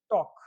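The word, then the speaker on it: talk: ठीक है, इसको टॉलक मत पढ़ना, टॉक पढ़ेंगे, क्या, टॉक, यानी कि जो एल है ये साइलेंट रहेगा, टॉक, यानी कि L will be silent before के पहले एल हमेशा साइलेंट रहता है, इसको क्या पढ़ेंगे, टॉक।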